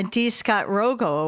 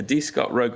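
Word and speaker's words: D. Scott Rogo: I actually think that it's the uh Dcott Rogo award. Is that correct? I think I mispronounced it. It is the Dot. It's the D Scott Rogo award.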